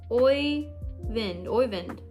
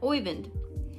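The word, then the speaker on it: Øyvind: Oyvind. Oh, J is silent. Oyvind.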